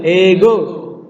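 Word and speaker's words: ἐγώ: Ego. O-nya naik. Omega. Ego.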